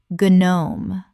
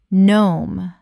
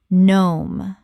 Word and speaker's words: gnome: t y m thyme Word 188 gnome Common mispronunciation guh-nome Correct pronunciation nome The g is completely silent. One syllable only.